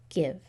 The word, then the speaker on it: give: as in note but there is a special situation that happens when a word ends in v so this looks like a nice closed syllable and read it just as a closed syllable what would this word